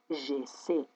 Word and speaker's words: j'essaie: Mais, si je transforme le Y en I, dar dacă transform Y-ul în I, je répète, devant une terminaison muette, în fața unei terminații mute, et les terminaisons muettes sont și terminațiile mute, E-E-S-E-N-T, E-S-E-N-T, alors, atunci, je dois prononcer j'essaie, eu încerc.